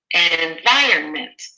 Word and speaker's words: environment: da da da da environment and we have almost 100% at B and that's correct it's the second syllable and then let's go